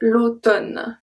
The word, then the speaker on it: automne: So we don't pronounce the M, we say l'automne. Tonne. O-tonne. That's it. And another one that's not that common is condamné.